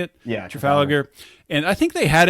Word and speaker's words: Trafalgar: Yeah, Trafalgar.